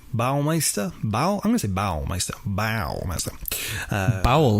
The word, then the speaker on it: Baumeister: at least the ball leister's I don't even pronouncing that right Baumeister bow by myself bow-bow all my stuff BAU BAU mei st ER Baumeister yeah from the outside at least the